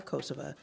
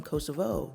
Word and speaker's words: Kosova: name of this country he explained that locals prefer kosova as a reminder of their sovereignty and identity the name Kosovo is more commonly used internationally but it can also be tied to Serbia's historical claim over the region which kosa declared